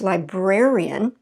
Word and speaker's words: librarian: adds an additional syllable we don't say canadian shin kane shin because i can't even say it canadian and librarian see how that just wouldn't work so it's librarian okay and canadian canadian